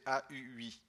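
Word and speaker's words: Haüy: Il a ensuite exercé différentes responsabilités en bibliothèque avant de rejoindre la médiathèque bien connue de l'association Valentin AUI, prononcée AUI.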